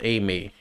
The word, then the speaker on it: Aimer: Yes, her name is pronounced as Aimee. Even though I call her Aimer. We call her Aimer.